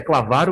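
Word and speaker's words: Klavaro: A pronúncia certa é Clavaro, mas, enfim, eu sou cearense, eu falo do jeito que eu quiser.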